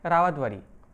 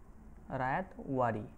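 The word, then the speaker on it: Ryotwari: Next যদি দেখি, next আমরা কি বললাম, নেক্সট বললাম হচ্ছে রাওয়াতবাড়ি। রাওয়াতবাড়ি চলুন বানানটা এরকমটা হবে, রায়াতওয়ারি, রায়াতওয়ারি।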